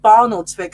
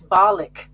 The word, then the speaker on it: Barnoldswick: I've noticed that two of the gigs at I used to call it Barnoldswick until I went to that place, and they said it's Barlick. You pronounce that town Barlick, not Barnoldswick.